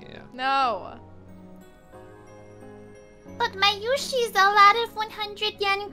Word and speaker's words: Mayushi: Just for everybody out there, it's Mayushi, not Mayushi. How they pronounce it is Mayushi. What? Mayushi is how they pronounce it, not Mayushi. Mayushi. What? You were both pronouncing it Mayushi? It's Mayushi. Oh, with the emphasis.